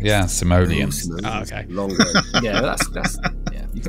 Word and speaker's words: Simoleon: Simoleon. That's yes, not the Simoleon right pronunciation of it, though. Rico, come on, Rico. Yeah, that's not. It's Simoleon. Would you like to give us the correct? Yeah, Simoleon.